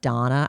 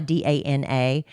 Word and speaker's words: Dana: but she spells Donna d a n a, so you might think it's Daily Dose of Dana, but it's Daily Dose of Donna is how she pronounces it.